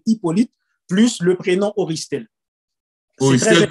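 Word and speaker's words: Auristel: Oristel qui s'écrit A-U-R-I-S-T-E-L. Exactement, c'est très important de faire ce distinguo parce que Oristel, mon prénom, c'est A-U.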